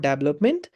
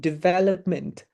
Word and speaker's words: development: जस्तै this word is not development, it is actually development है।